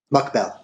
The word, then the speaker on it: Mokbel: Mukbell, as it's spelled.